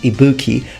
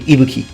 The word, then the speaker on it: Ibuki: is mispronounced the accent from people who don't speak Japanese tends to fall towards the second part and it becomes Ibuki but it's actually Ibuki Ibuki in Japanese now ibakier has several